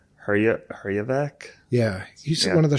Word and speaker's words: Herjavec: Hejevar. Herjavec?